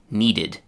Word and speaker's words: needed: 3rd and last, need, needed.